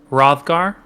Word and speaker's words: Rothgar: Rothgar. So it's a very soft H. Rothgar.